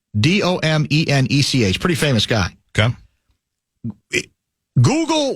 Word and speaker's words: Domenech: Fox News contributor Ben, is it pronounced Dominic? Domenech.